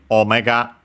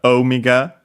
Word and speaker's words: omega: uh English, but yeah, in Japanese, it's simply omega uh without any uh long vowels. and the accent is on the first uh syllable on the first moa on the O.